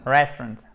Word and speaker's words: restaurant: No, restaurant. We emphasize rest. Oh, you do? Restaurant. And I must do it or I can choose to put it on the second syllable?